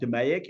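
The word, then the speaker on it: DMAIC: the last part is demic Define measure analyze and proove control um I pronounced that demic and you'll hear this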